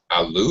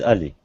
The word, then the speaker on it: Ali: to the class hello Alou is that right yeah hello hello hi uh am I pronouncing your name correctly Alo my my name no it's your name my name is Ali Ali okay very good yeah